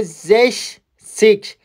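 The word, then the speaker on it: sechzig: می‌کنیم زک زک خب یه سیک بهش اضافه می‌کنیم حالا تلفظش م فرق می‌کنه میشه زش سیک زش سیک زش سیش میبینید این سه ها صدای ش دیگه می‌گیره زش سیش یا زش سی میشه ۶۰ هفتادم به همین صورت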